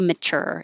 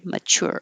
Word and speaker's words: mature: here because you have you can say ur or chur or tour so they're all correct just pick one that you like i say mature it's probably the laziest because you don't have to round your lips like uh or mature